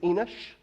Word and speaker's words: Enoch: It really is Enoch.